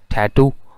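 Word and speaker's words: tattoo: American English में आपको मिलेगा टैटू, और ब्रिटिश इंग्लिश में टटू।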